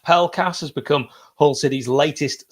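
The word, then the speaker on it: Pelkas: top spot greek international demetrios pi cast could be pronounced pell cast has become hull city's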